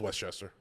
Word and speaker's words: Westchester: He said the second pronunciation is Westchester, like opposite of East, and then the name Chester, like the Cheeto mascot.